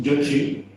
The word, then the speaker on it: Xóchitl: La doctora Vázquez me ha chivado uno de nuestros amigos mexicanos en la casa que tu nombre, que si lo pronuncio bien, es Yochi, significa flor.